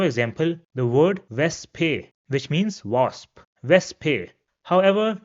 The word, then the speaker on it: Wespe: or the end, and in this case, it will be pronounced as it is pronounced in English. For example, the word Wespe, which means wasp, Wespe.